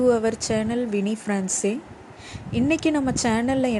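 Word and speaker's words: ce: இதை நம்ம ஃப்ரெஞ்சில் ச அப்படின்னு தான் ப்ரொனவுன்ஸ் பண்ணணும்.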